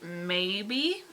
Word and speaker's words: Mabie: Maybe. I think that's how you say his last name. His last name is spelled M A B I E. So I think it's called maybe.